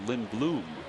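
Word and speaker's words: Lindblom: the bullpen Lind Bloom there's only one o at the end but it's pronounced Lin Bloom like a flower left side and Gordon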